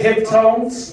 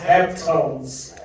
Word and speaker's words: Heptones: It's like they're saying hip tones, but it's pronounced Heptones.